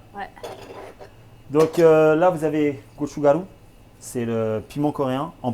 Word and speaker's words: gochugaru: Donc là, vous avez gochugaru. C'est le piment coréen en poudre. Tu le Comment prononces tu aussi dis?